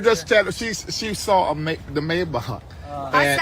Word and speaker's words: Maybach: It's okay because you know what the ach is the German. Yeah, it's German, right? How you say it? Maybach. Maybach.